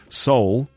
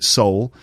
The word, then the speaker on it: Seoul: Seoul. S-E-O-U-L, we pronounce it soul.